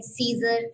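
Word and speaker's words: Caesar: ठीक है, pronunciation very करती रहती है, कुछ लोग इसको और तरह से प्रोनाउंस करते हैं. ठीक है, कुछ लोग इसको केसर साइफर पढ़ते हैं. ठीक है, कुछ इसको सीजर साइफर पढ़ते हैं. तो प्रोनाउंसिएशन जो है वो वेरी करती है. इसको केसर साइफर भी पढ़ सकते हैं, सीजर साइफर भी पढ़ सकते हैं.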